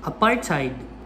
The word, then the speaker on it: apartheid: it bye apartheid try to say thai instead of tay apartheid i have mispronounced apartheid